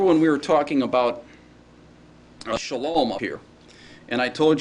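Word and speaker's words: שלום: And I said the vowel has a long A sound similar to the A in father, so that it's an ah sound. That's why this is pronounced shalom, all right?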